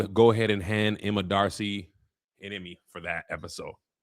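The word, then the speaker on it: D'Arcy: Emma Emma Is it Darcy? Okay, so the apostrophe is just there like how black people like apostrophes. It's just pronounced Darcy. Uh you might as well go ahead and hand Emma Darcy an Emmy for that episode.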